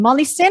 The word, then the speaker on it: Molly Sin: Molly Sin, is that how you pronounce her name? Correct. Yes. Yes.